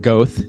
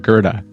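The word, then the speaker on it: Goethe: Unit 3N, and no, that is not Goth Street. I used to think when I first moved to Chicago, that's how it's pronounced. It's pronounced Gerda. So 65 East Gerda, Unit 3N.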